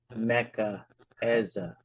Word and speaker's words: Mecca Eza: page, the footnote says, you pronounce her name as Mekh hyphen Ez, and then another hyphen AH. So you really would say Mecca Eza.